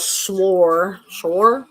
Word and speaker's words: schorl: Or it's called Shore. S-C, like squirrel. It's SCHORL. That's a weird pronunciation of the word.